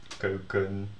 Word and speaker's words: keuken: that ERD, ELD, whatever, endings are all unemphasized. So you can hear that if you pronounce them sort of, or you hear me pronounce it, kussen, lepel, keuken, wekker. So they all sound like e, and this sounds like e, bed.